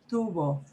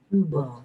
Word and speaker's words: tubo: It should be so soft that your lips just barely touch.